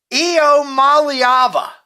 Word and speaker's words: Iamaleava: I'm going to attempt to pronounce his last name one more time. Nico Iamaleava.